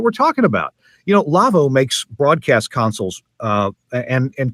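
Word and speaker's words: Lawo: by our friends at Lavo that's it's pronounced Lavo but it's spelled la wo because it's a German company Philipp Lavo is the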